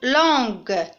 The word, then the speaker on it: langue: Une langue, c'est le son G, c'est écrit avec GU. C'est clair? Et le U est une lettre muette, il ne se prononce pas.